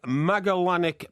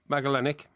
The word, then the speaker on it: Magellanic: he looked after the magalanic penguin magellanic magellanic it's a particularly yeah penguin yeah